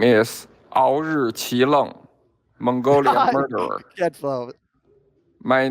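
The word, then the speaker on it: Aoriqileng: My name is Aori Qileng, Mongolian murderer.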